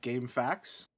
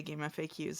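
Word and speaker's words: GameFAQs: I've always pronounced this like as if like game facts instead of acronym.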